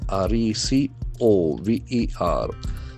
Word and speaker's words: recover: R E C O V E R. So there are two syllables. Recover. Recover. Action accent force on the second syllable.